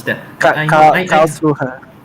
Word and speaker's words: Karlsruhe: How do It's you pronounce that? I know. I Karlsruhe. yeah. Karlsruhe.